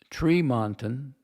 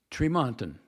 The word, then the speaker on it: Tremonton: and this is really out in the boondocks, Tremonton, Utah. Tremont? What? God, I forgot how to pronounce it. Let me go look. Tremonton, yeah, Tremonton.